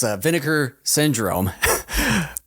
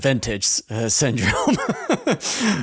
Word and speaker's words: Vinegar Syndrome: And then it's like if you got the I don't want to mispronounce it. It's vinegar syndrome. There was a point where I mentioned to Ken, I said vintage syndrome.